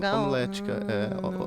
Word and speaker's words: homilética: Se escreve com O? Não, H-O, homilética.